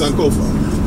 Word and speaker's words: Sankofa: All right, so this piece is called Sankofa is our war cry. And I want to make sure that I'm saying that right. So I'm gonna have to ask. Polina, is it Sankofa? Yes, Sankofa.